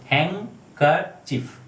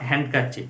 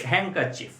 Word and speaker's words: handkerchief: তো একটা জিনিস মনে রাখবে, যখন আমরা এটাকে উচ্চারণ করতে যাবো, when you try to pronounce this word, don't use D. D is your silent. So correct pronunciation is handkerchief. Okay? Not handkerchief. It's handkerchief.